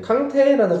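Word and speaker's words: Kanté: 왜냐면 그 이에 이 이렇게 적혀 올라가. 그러니까 원래 아무것도 없으면 으는 발음이 안 나요. 그냥 콩트가 될 건데 이게 얘를 캉테라고 얘기하는 거는 무조건 이게 있어서 그래. 이 액센트가 적혀 있어서 그래.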